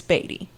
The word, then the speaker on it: Beattie: Talia and today we are talking about the batty mansion in St Joseph Missouri is that how it's pronounced yes I'm sure I will be calling it Bey throughout but it's batty okay cuz that's how I thought it was